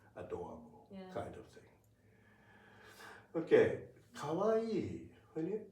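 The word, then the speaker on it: かわいい: But in in Japanese kawawaii is has four four moras four be careful because you you see yes uh number of hidana equals to the number of moas. So it is very important to pronounce E as two.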